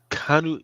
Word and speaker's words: Keanu: Canal Reeves, Kanu, it's not Canal.